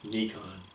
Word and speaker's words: Nikon: And I use the Paul Simon pronunciation, by the way, not the British Nikon, whatever they say.